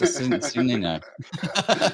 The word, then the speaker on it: Cicino: Well, as it's spelled, it's Cicino.